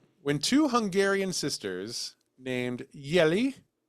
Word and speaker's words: Jelly: When two Hungarian sisters named Yelli Mhm. Deanna, but it's spelled like jelly, which is fun.